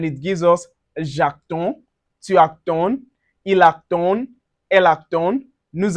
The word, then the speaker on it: attend: gives us j'attends, tu attends, il attend, elle attend, nous attendons, vous attendez, ils attendent, elles attendent. So, remember for the je, tu, and il L, the D is silent.